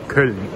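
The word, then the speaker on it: Köln: で、日本語ではケルンなんですが、ドイツ語の発音ではケルン、 K-O-Umlaut-L-N ですね。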